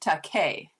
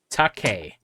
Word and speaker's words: Takei: Um, Spence George says on Twitter, it's pronounced Takei. Takei.